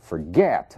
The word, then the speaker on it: forget: consoante vogal consoante admitting Forget mesmo caso Forget a sílaba tônica é o get então ele se comporta